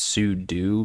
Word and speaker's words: sudo: utilities and stuff like technically it's su do because it's super user do yeah cube ctl or